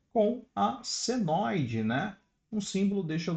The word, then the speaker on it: senoide: Ele parece um tio, mas esse símbolo é chamado de senoide, né? A forma correta de da pronúncia seria senoide.